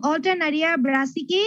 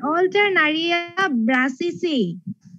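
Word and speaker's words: Alternaria brassicae: স্যার কনিডিয়াটা বলবো বলো আচ্ছা স্যার দুইটা ছিল অল্টারনারিয়া ব্রাসিকে আর অল্টারনারিয়া ব্রাসিকোলা আবার বলো উচ্চারণ হইছে না তোমার আবার বলো স্যার অল্টারনারিয়া ব্রাসিসি হ্যাঁ আর স্যার অল্টারনারিয়া ব্রাসিসিকোলা হ্যাঁ এবার একটু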